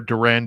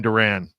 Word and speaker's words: Doran: Doran or Duran, pardon me. Got to remember Duran. Duran.